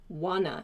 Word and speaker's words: wanna: but keep in mind when you express this want to should become wanna in your pronunciation i wanna i don't wanna and so on so